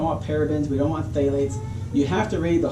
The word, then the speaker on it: phthalates: Just don't say it properly. There's no pH, just phthalates.